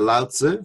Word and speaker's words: Lao Tzu: love the word consumption I once heard that Lao Tzu that's how you say it in China let's